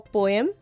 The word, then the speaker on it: poem: to exalt the king the actual pronunciation for poem is poem they would speak highly